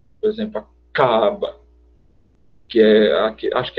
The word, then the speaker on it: Kaaba: Quando você vai dizer, segundo a pronúncia que eles esperam que seja feita, Kaaba, o som no C começa, vamos dizer, nessa região, enquanto no Kaaba começa aqui.